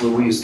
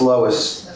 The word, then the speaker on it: Lois: didn't get it right it's Louise too right it's Lois this is the R5 zones